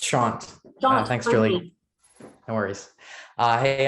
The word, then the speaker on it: Shant: And last but not least, Shant. It's Shant. Thanks, Julie. No worries. Hey, I'm Shant, pronounce he, him.